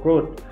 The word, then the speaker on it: wrote: Nah, ini pengucapannya W-nya tidak usah diucapkan ya, langsung wrote.